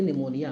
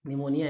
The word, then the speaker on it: pneumonia: हो जाते हैं और इन्हें बॉक्स ऊपर कहते निमोनिया तो निमोनिया में क्या होता है हमारे जो